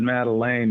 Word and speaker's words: Madeleine: It's actually, I pronounce it Madeleine, you know, which is a little bit different.